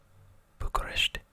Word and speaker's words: Bucharest: So it seems like there's a t at the end. A t. Bucharest.